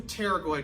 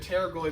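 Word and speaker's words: pterygoid: So, it's spelled weird, but it's spelled P T E R Y G O I D. So, we have a terragoid muscle.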